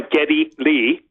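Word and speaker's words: Geddy Lee: all right his his he goes by Getty Lee right his name is actually Gary but his mother who is Hungarian would always call him Getty because she could not properly pronounce Gary and he just kept the uh nickname Getty and uh hence uh there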